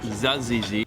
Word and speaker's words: tzatziki: We've got some hummus, tzatziki, although it's pronounced zazizi.